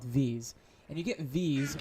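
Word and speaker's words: Vis: And you get Vs, or V, I think it's actually pronounced V with no S sound, but you get V by killing enemies with your wand and your hotbar.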